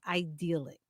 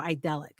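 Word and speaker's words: idyllic: one here is was your childhood idealic or idelic depending on how you pronounce it would you change anything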